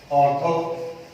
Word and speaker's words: ऑर्थो: वो लिखा हुआ है, प्रोनाउंसिएशन ऑर्थो होता है इसका, ऑर्थो नाइट्रोफिनॉल।